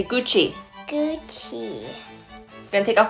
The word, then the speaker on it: Gucci: louis vuitton louboutin no it's not cookie it's gucci say gucci gucci i'm gonna take